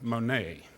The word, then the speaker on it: Manette: Even though her name is spelled the same, she pronounced it Lauren Monet.